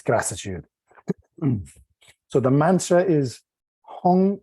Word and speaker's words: Heng: So the mantra is Hung. It's spelled H-E-N-G, but it's pronounced Hung, okay? Hung, like H-U-N-G. It's not hang, it's Hung, Hung, Hung, Hung Jin Dan.